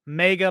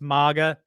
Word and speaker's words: MAGA: Biden repeatedly mispronounced mega MAGA as mega MAGA, however you want to say it. I know it's MAGA, but he corrected himself.